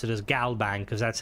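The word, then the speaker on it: GalBank: is good, but like don't pronounce it as GBang. Pronounce it as Galbang because that's how it is in game, you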